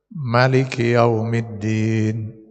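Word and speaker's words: مالك يوم الدين: Yang pertama boleh dibaca dengan dipanjangkan huruf mimnya dua harakat. Misalnya jadi Maliki Yaumiddin. Ya. Bisa juga dibaca dengan dipendekkan mimnya. Jadi tanpa dua harakat. Jadi bacanya jadi Maliki Yaumiddin. Nah, itu. Sama dengan di Quran surat An-Nas. Malikin Nas. Bisa, benar itu. Atau Malikin Nas. Dipendekkan mimnya. Dua-dua bacaan itu benar.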